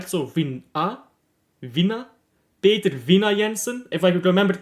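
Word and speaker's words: Peter Vindahl Jensen: Because like the HL at the end of a word you don't pronounce right. And like the D you don't really pronounce either. So Vina? Peter Vina Jensen, if I could remember it correctly.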